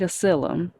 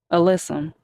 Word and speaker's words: alyssum: Oh, sweet acyllum. Alyssum. Yeah, alyssum. I always say it wrong.